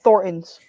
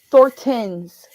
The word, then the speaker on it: Thorntons: brand name brand uh Thorntons or like the people out here pronounce it thortens and it's like no it's Thornton's Thorntons